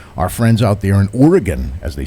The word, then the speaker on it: Oregon: And last but not least, our friends out there in Oregon, as they say it, Oregon, G-U-N.